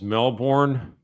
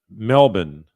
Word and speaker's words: Melbourne: So I was saying calling this Melbourne, but the way they say in Australia is Melbourne.